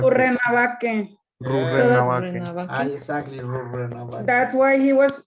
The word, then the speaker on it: Rurrenabaque: Exactly, Rurrenabaque. That's why he was pronouncing a little bit.